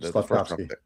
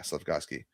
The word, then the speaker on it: Slavkovsky: How you pronounce his last name? Slavkovsky. Yeah, Slavkovsky.